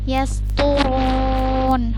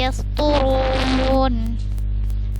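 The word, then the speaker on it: يسطرون: Hai kemudian yes pungun yes turun huruf tuh Ini huruf tho yah jangan dibaca tah bukan Yes turun tapi yes tulun jadi dari sini sampai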